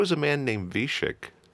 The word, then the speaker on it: Wiesiek: So Wiesiek, spelled with a W, pronounced with a V, and that's why people now call you V.